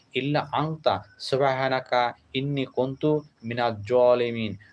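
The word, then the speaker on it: مِنَ الظَّالِمِينَ: আনতা সুবহানাকা ইন্নি কুন্তু মিনাজ জালিমিন অর্থাৎ মিনা জালিমিন এভাবে উচ্চারণ করা ভালো আর ইল্লা আনতা অর্থাৎ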